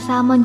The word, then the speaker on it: salmon: Bahkan salmon juga ternyata punya pengucapan yang sering salah kamu sebut. Jika kamu biasa menyebutnya persis dengan kata aslinya, yang sebenarnya adalah tidak menggunakan kata L, yaitu salmon.